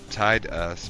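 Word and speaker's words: Tidus: Tied us because water just fits, but Titus means sun.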